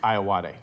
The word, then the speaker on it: Ayoade: I own up like I always say it wrong but yeah that but the correct pronouncing is I awadhe yes just for you